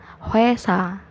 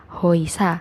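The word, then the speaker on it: 회사: Walaupun hurufnya itu O dan I, tapi dia dibacanya jadinya W. Jadi bukan hoisa tapi jadinya hoesa.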